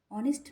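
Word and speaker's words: honest: ডিএরটা that is dash অনেস্ট ম্যান, এখানেও এইচ আছে কিন্তু এটা ব্যতিক্রম। এখানের এইচের উচ্চারণ অয়ের মতো, মানে স্বরবর্ণের মতো, মানে ভাওয়েলের মতো, তাই এখানে অ্যান বসবে। অ্যান অনেস্ট ম্যান।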